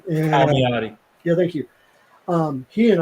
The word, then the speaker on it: Palmiotti: But Jim Poliano, I cannot say his name. Palmiotti.